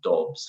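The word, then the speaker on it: Doubs: okay uh I know it's not because he's dogs he's sorry even though it's spelled d-o-u-b-s as you can see here it's pronounced Dobbs first inexplicably um I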